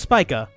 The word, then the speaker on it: Spica: up yo hang on spica so it's pronounced spica I literally just looked it up in for